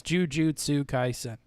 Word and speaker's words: Jujutsu Kaisen: it i'm not going to spell it out it's jujutsu kaisen is the simpsons a kid cartoon yeah i